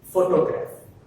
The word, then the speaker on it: photograph: more example, that is photograph. What is that? Photograph. Observe this. Photograph, the stress falls on the first syllable, that is pho, right?